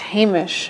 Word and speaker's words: Hamish: the patreon supporters mich what Jeff says it's pronounced Hamish Hamish okay Hamish see I always screw it